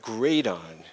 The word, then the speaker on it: Gradon: It's spelled like radon, but Gradon.